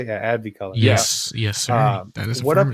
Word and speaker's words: AdviColor: podcast is that how you say it yeah Abby color yes yes sir what up guys my name